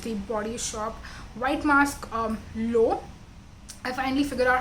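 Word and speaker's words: L'Eau: This is the Body Shop White Mask Low. I finally figured out how to say Leau. It's pronounced as low.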